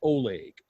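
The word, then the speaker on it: OHLEG: ohio law enforcement gateway pronounces oleg o-h-l-e-g now i don't know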